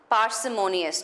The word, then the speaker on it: parsimonious: with this word right if you've heard this word it's pronounced parsimonious now if I have